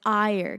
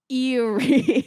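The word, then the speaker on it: Éire: It's Ire, because it's spelled I think it's Eyre. And so, like, I guess to a stupid American, it would be Erie.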